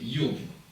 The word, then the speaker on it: 이요브: 히브리 성경은 이요브라고 발음이 되어 있어요. 이요브.